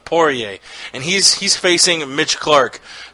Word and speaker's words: Poirier: ] it up every single time oh yay Poirier alright i'm poor yay Poirier and he's facing mitch clark who also is